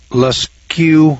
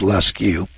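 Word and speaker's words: Lascaux: Uh, Leu, France. That's spelled L A S C A U X. I guess that's lu France.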